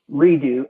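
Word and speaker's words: Redux: waiting to hear the brand our art is pronounced uh redo r-e-d-u-x r-e-d isn't dog a little more mainstream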